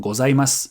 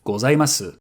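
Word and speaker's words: ございます: So you'll sound more natural saying ‘gozaimass’ instead of ‘gozaimasu’.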